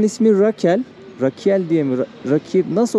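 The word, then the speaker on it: Ráquira: Rakira. Şurada yazıyor bak. Doğrusunu şimdi telaffuz ettim sanırım.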